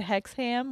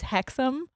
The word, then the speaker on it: Hexham: She also said Hexham, which I absolutely would have also said, and it's Hexham, oh, or Hexham. Yeah. Hexham. And she said Hexham, which is how it's spelled.